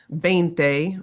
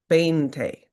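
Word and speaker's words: veinte: So it's pronounced bane like this would be the big bente bente. Right? So the V is a B so sound.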